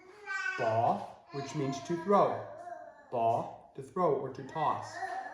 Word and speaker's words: p: So please pay close attention. Good example of that is the P. The P is pronounced like the English letter B. Okay, ba. It is not the English letter P, pa.